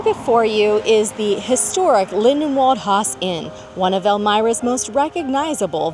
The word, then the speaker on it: Lindenwald Haus Inn: Lyndhurst? Lindenwald Haus Inn. Did I say it right? Lyndhurst. I thought it was Lindenhaus. Lindenhaus. We're going to fact check here. Lindenwald Haus Inn. That's it.